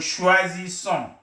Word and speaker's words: choisissons: Nous choisissons. Nous choisissons. This is S sound, and then this is a Z sound.